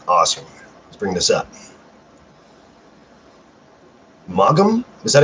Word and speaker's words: Maugham: Maugham? Is that how you pronounce his last name?